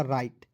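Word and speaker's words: right: के रूप में कीजिएगा और आई जीएसटी जब भी आपको किसी भी वर्ड के अंतिम में दिखेगा उसका उच्चारण आइट के रूप में कीजिएगा तो क्या हो जाएगा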